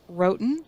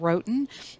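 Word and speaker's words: Roatán: or presentate a presentation on and this is pronounced Wroten I researched that that's what I found rhoten um Honduras one of the featured tours of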